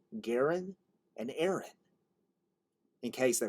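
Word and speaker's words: Garon: Kennedy, himself a twin, and Garen to rhyme with Aaron.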